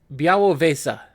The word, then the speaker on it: Białowieża: Oh, and now it has a pronunciation guide. Białowieża. Okay, I was pretty close. Białowieża is a village in Poland's Podlasie province, in the middle of the Białowieża.